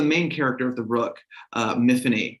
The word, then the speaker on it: Myfanwy: So the main character of the Rook, Miffany, to rhyme with Tiffany, it's a Welsh name, and that's how the girl I used to babysit would say it.